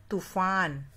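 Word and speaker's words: तूफ़ान: तो यहाँ भी फ के नीचे नुक्ता लगेगा और इसका उच्चारण होगा तूफान।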